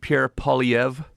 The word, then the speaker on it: Poilievre: Poilievre? Yeah, well, it's French, so it's well, I don't think he's French, but the name's French. Pierre Poilievre. Poilievre. Sort of a weird R, silent R.